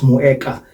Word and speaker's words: Moeca: Moeca, you can pronounce it as Moeca, M-O-E-C-A.